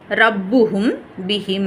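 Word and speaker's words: ربهم بهم: ரப்புஹும் பிஹிம் அப்படின்னு சொல்றாங்க இதை எப்படி நம்ம மீமை மறைக்கிறது அப்படின்னா ரப்புஹும் பிஹிம் ரப்புஹும் பிஹிம் அந்த ஹும் அப்படின்னு சொல்லிட்டு நல்ல மீமை உச்சரிக்காம ரப்புஹும் பிஹிம் அப்படின்னு சொல்லிட்டு லைட்டா வைப்ரேஷன் சவுண்ட்ல லைட்டா நம்ம உச்சரிக்கணும் ரப்புஹும் பிஹிம் அந்த மீம் சொல்லும்போது நம்மளுடைய உதடை வந்து நம்ம நல்லா குவிச்சு சொல்லாம ரப்புஹும் பிஹிம் அப்படின்னு சொல்லிட்டு ஓதணும் இதை தான் நம்ம என்ன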